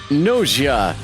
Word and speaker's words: Gnosia: Tonight's game is Noia with a silent G.